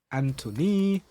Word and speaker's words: Antony: Now he replaces Antony. I always say his name like that because if you see how it's spelled it's like Anthony um Robinson.